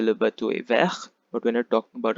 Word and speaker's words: vert: Okay, so the first color is green, the masculine is vert, V-E-R-T, vert, where the T is silent.